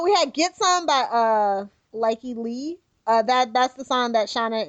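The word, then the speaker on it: Lykke Li: Oh, we had Get Some by Likey Lee. That's the song that Shauna is breaking into Iron Heights to. It's an awesome song, cool. Really cool video. Google schmoogle it. Likey is spelled Lykkeli.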